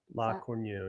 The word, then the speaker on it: La Cornue: La Cornue, That's yeah. how you pronounce it.